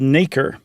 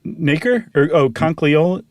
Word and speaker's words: nacre: sand or that parasite or whatever is called nacre.